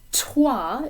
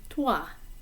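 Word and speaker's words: toi: the beginning of twa in english we kind of pop these sounds out we say you know like test or take and the p at the beginning of a word it's similar like um let's say press or push those sounds kind of pop out of the mouth in french they're a little softer a little more subdued so instead of saying tua it should be tua or instead of saying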